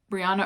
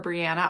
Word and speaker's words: Brianna: Brianna or Brianna. I've heard it pronounced both ways with the same spelling.